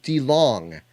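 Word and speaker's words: DeLonge: the birth of jesus i'm sorry did i say de long i mispronounced tom tom delong sorry um tom delong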